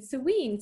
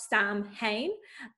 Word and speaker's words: Samhain: um for those of you who are thinking serene serene sweet what is that it's spelled like it should be pronounced samhain and for those of you who have watched the supernatural halloween episode about sam hayne they kind of get some stuff right um